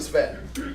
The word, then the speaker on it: Sven: It's really Sven, but Americans can't really pronounce the S and the V together, so Sven.